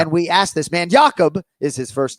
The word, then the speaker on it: Jakub: And we asked this man, Jakub is his first name, Jakub, spelled Jakub. But, of course, Joanna Jacek in the fighter meeting is calling him Jacob. And I'm sitting here. He says it's Jakub, but you're calling him Jacob.